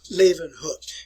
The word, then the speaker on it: Leeuwenhoek: Put a little German pronunciation on it there, folks. Antony von Leeuwenhoek.